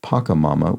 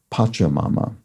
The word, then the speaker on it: Pachamama: And finally, Sam, aka Frisco17, has pronunciation note on what I pronounced as Pachamama, which as Sam points out, is with a CH sound, not a CK sound. So it's Pachamama.